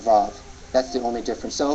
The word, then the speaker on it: vav: mentioned earlier that the wow to be pronounced as a v sound and they call it VAV that's the only difference